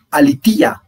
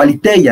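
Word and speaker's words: ἀλήθεια: Y en el griego el término es la alitía o aliteia, depende de la escuela de pronunciación que usted trabaje en el griego.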